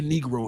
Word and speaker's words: negro: I don't know how to say negro anymore. It's negro. Roll your R's, gentlemen.